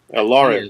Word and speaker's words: Eldario: We'll start with Eldario. Elario. Oh, Let it not be said we're not a diverse crowd. okay. The D is silent.